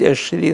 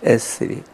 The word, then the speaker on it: эсри: Он пишется с таким знаком для «ш», но мы не уверены, что это читалось как «ш». То есть, может быть, «эш-ри», но скорее «эс-ри».